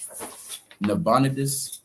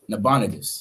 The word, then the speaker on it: Nabonidus: Prince of NE uh D pronounce that king nabonidus nabonidus that's how you pronounce it nabonidus right so in